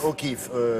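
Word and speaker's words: O'Keeffe: georges tron mais elle s'appelle georgia o'keefe kif ça s'écrit cas 2e 2f e o keefe pas vous tromper c'est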